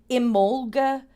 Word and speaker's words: Imbolc: So we have Imbolc is how this is pronounced.